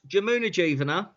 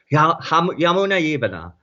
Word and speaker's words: Jamuna Jivana: The J is very much like Spain. Yeah, It's pronounced as a Y in India. So Yamuna Jivana is how they would say it in India, Jamuna right?